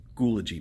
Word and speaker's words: Schoology: and look for details on Schoology ok it's pronounced Schoology Madison so I hope you all are enjoying